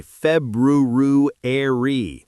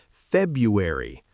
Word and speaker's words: February: People say February, but most native speakers February. That first R is almost swallowed.